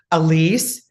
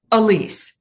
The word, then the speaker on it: Alise: easy to pronounce, but if you just sound it out, it's easy. Elise. But my full name is. Merl. Elise. You can you pronounce Merurl? Yes. Can you pronounce Elise? Yes. Then you can pronounce.